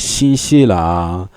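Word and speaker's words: 新西兰: You know every country has his ways of being pronounced in China. Like Australia is, New Zealand is shinisha.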